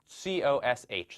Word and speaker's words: cosh: So the notation here, we write COSH, so the H for hyperbolic, so hyperbolic cosine, and usually we pronounce this cosh.